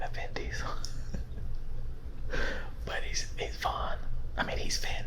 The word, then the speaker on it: Vaughn: Vaughn. Vaughn. Vaughn. Now this is spelled different. This is V-O-N, but when I hear Vaughn, I think of Sarah Vaughan, who was an amazing vocalist, an amazing singer.